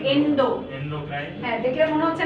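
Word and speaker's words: endocrine: এন্ডোক্রাইন। এন্ডোক্রাইন, Indo না কিন্তু, হ্যাঁ, এন্ডো বানানগুলো এরকম কিন্তু এভাবে উচ্চারণ করতে হবে, এন্ডোক্রাইন।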